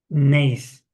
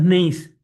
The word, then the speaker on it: gneiss: Si usted tiene en la catazona, una roca ya metamórfica, voy a poner el primer nombre de roca metamórfica, pues, gneiss, gneiss. Gneiss se escribe G de gato, G-N-E-I-S, G-N-E-I-S, gneiss, gneiss.